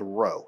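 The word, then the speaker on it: rho: kind of come down it's called row and so uh I'll put it like this row that's how you say it row um it's the same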